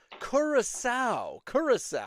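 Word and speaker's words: Curaçao: Doesn't it have that weird upside down scent sign under the C? Because that turns a hard C into a soft C, like garçon.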